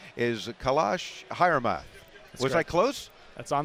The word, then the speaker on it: Kailash Hiremath: name if I can get it right is kalash hman was I close that's on the money on